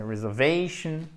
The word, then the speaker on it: reservation: Même chose, c'est pas reservation, c'est reservation. Et ça, c'est indispensable, cet accent tonique.